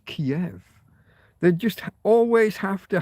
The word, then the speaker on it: Kiev: us that no no it's not Kev, it's Kiev.